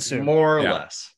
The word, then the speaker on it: Suh: Suh. More or less, right around there. Sue, everyone just calls him Sue. It's Sue.